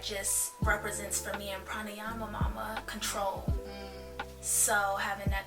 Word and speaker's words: pranayama: with me as well that's again I'll just pronounce it for everyone pranayama mama so pranayama mama pranayama is Sanskrit word for just life